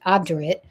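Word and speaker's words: obdurate: Abdurate is an adjective pronounced abdit meaning stubbornly refusing to change one's mind, opinion or course of action often in the face of persuasion.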